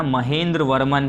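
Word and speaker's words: महेंद्रवर्मन: महेंद्र वर्मन first.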